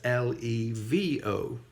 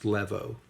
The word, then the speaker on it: levo: It is not pronounced levo. It is pronounced levo because there is a missing vowel there. It's the same vowel combination as in Julius Caesar, A-E.